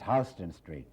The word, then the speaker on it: Houston Street: I said, in the first place, Houston, in the entire world it's pronounced Houston. Not there. It's Houston Street.